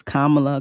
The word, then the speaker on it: Kamala: kind of you know say it correctly it's Kamala Kamala it is an ambiguous name so I